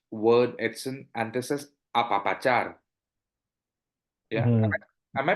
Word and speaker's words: apapachar: to the next word Edson and this is apapachar yeah am I pronouncing it correctly apapachar apapachar that's that's perfect I mean you you sound